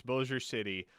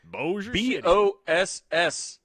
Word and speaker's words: Bossier City: I thought maybe the word like dossier. Like dossier is spelled the same, but with a D. I was like, oh, B, French. I got this.